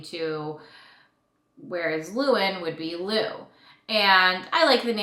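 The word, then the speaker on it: Llewyn: The next name we had on our list was the name Lewin. It's spelled L-L-E-W-Y-N.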